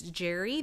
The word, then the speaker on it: Jere: That's spelled Jere, Curtis Jerry. And if you can find a signed original Curtis Jerry piece, those are, bringing up to thousands of dollars. Did you know sometimes it's C. Jerry? Yes. And people don't, I mean, you have to look it up to know to pronounce it that way.